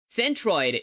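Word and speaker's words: centroid: Centrid is how you pronounce it.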